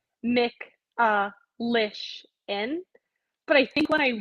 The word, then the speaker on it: Michalyshen: had it like a written out so it's mick uh lish in but i think when i wrote it down phonetically like it could have gone either way